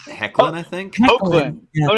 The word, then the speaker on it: Hoechlin: I think it's pronounced Hecklin.